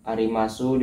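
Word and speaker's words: あります: Arimasu dibaca arimas.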